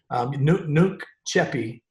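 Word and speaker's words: nunc coepi: But Nuke Cheppy is I guess I should say is the Alabama version of the Latin or the Alabama pronunciation of the Latin phrase.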